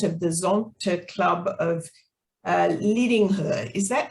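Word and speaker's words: Lidingö: Pia joined Zonta in 2001 and is currently the president of the Zonta Club of Lidingo. Is that how you pronounce it, Pia?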